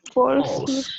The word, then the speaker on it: false: Recuerden, se escribe false pero no vamos a pronunciar la última E. Entonces, false. Y esa A va a sonar como una O.